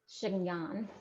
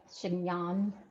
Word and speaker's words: chignon: comb to try to get a big voluminous chignon. That's how you say it, right? Chignon.